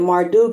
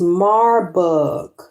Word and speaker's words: Marburg: I said Marduk is Marburg. Marburg virus. They said the Marburg virus disease, MVD, formerly known as the Marburg hemorrhagic fever.